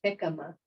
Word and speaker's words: jicama: It's pronounced jicama.